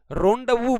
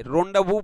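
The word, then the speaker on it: rendezvous: चलिए चलिए रोंडाव बोला जाता है। इसकी स्पेलिंग चेक कर लीजिएगा भाई। रोंडाव बोला जाता है या सीक्रेट मीटिंग हो गई है।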